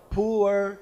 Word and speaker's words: Pu'er: it is coming up in typical Chinese pronunciation Mandarin pronunciation it's called poor tea but with your typical